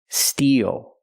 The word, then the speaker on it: steel: pronunciation as the first Steel the long e like green beans plus the dark L steel steel is a